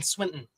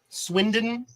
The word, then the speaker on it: Swindon: cash back was built in Swinton really Swindon how it's pronounced the the other the